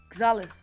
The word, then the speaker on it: Xalith: X is pronounced KS, and then Gza, and then Lith, as in Lilith. Lith. Xalith.